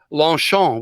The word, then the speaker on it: Longchamp: So it's just like, Longchamp, which I'm sure you know, the Longchamp bags, Longchamp, as they pronounce it in America.